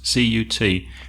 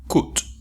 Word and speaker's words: cut: Be careful with the pronunciation of cut, C-U-T, because many Spanish speakers pronounce it cut. No, it's the A sound, like up.